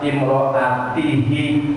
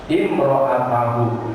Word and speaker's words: imro'atahu: Maka di sini dibacanya imro'ata, hu-nya simisah lain kalimat. Tidak boleh dibaca imro'atihi atau imro'atuhu. Kenapa? Karena dia jadi maf'ul bih, jadi objek, jadi pelengkap penderita, harus memakai baris fathah. Imro'atahu.